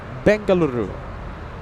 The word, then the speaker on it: Bengaluru: Bengaluru. Now I like how you roll the Rs.